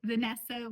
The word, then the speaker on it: Vanessa: And the funny thing is I pronounce my name the Spanish way as well. I say Vanessa with an E instead of an A.